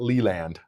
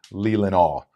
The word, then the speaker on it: Leelanau: No, not Leland. Leelanau.